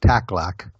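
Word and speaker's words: Takhlakh: H lakh chakalaka but I believe the the natives pronounce it tak lock without the h's anyway very very beautiful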